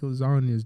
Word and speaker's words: lasagna: Lil Wayne really said cheese moving silence like lasagnas. Do you not get it? Cheese? No, G's. Okay, so Like the letter G in lasagna is silent.